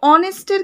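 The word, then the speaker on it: honest: অনেস্টের ক্ষেত্রেও তাই, right, অনেস্ট এইচ ওয়ার্ডটা দিয়ে শুরু হয়, right, H ও এন ই এস টি, অনেস্ট, right, but আমাদের উচ্চারণ হয় অনেস্ট, রাইট, তো দ্যাটস ওয়াই আমরা সেখানেও কিন্তু অ্যান করে থাকি।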